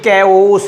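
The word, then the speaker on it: chaos: ऑफ कैओस, ये लफ्ज़ अक्सर बच्चे पढ़ने में इसका मिसप्रोनाउंस करते हैं, ये कैओस है।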